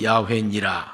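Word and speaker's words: 야훼: 그래서 나는 야회니라 하고 하나님은 자기를 야회라고 불러라고 했습니다만는 유대인들은 야회를 야회라고 부르기가 너무 두려우니까 다르게 이름을 부릅니다.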